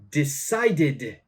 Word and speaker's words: decided: Okay so we've got decided decided again ID sound okay so how did